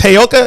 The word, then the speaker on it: Heyoka: And it's Heyoka. Is that how I pronounce that? Yeah. So Lakota Indian actually. That's what's up. So, brother Heyoka, man, whenever you see